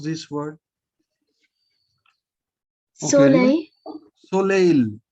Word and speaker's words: soleil: Okay, Soleil. soleil. L is pronounced because Soleil. soleil, because L at the end is pronounced.